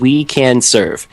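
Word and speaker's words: WeCanCerve: started an organization called we can serve which is spelled we c-a-n-c-e-r-v-e she actually works the word cancer in there we can serve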